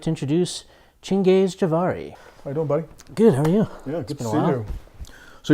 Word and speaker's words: Chengis: same boat I want to describe how to pronounce my name because it is a little weird oh right chin gaze it's a little difficult for people so to